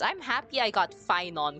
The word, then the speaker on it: Phainon: And I did not know how half of these names were pronounced. I'm happy I got Fon correct at least because if I got Fon corre incorrect I don't know what I do.